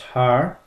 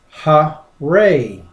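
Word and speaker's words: הר: the Hebrew word H2022, which is typically pronounced har. But as I show you here with the ancient pictographs, it can be pronounced ha-re.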